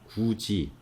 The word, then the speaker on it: 굳이: 해도지라고 쓰고 발음을 해도지로 하고 굿이를 쓰고 구지 갓이라고 하고 같이 끝이 끝이 이렇게 하는 겁니다.